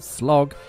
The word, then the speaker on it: Slough: And today I'm in the very quaint looking Slough, which I'm told is pronounced Slog, here in Berkshire.